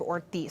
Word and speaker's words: Ortiz: Representative Ortiz, you have 2 minutes to respond. It's pronounced Representative Ortiz, Senator Kavanagh.